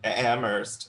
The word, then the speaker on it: Amherst: That's all I'm going to hear anytime that you guys say that, or like if someone pronounces the H in Amherst. See, I'm Amherst.